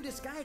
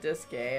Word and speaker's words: Disgaea: fitness boxing an all-new disgaea game is here dude really oh that's how you're supposed to say it i've been saying it wrong for years i think i always said dis gay uh huh i didn't